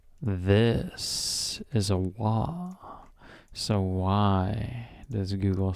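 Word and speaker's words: は: So this might be a What is the Wait, what is I do What is the difference between wa and In short, ha is generally pronounced wa while wa is used when wa is used a normal syllable in a word.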